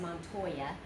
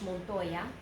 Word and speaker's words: Montoya: very common name in English you have said Montoya but in Spanish Montoya Montoya and it says mr. Montoya so that'd be señor monk boy yeah whether